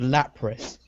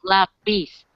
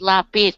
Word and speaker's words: Lapis: I keep thinking she's called Lapris because she's a water type. Her name is Pronounced lapis. Pronounce it lapis, like pencil in Spanish.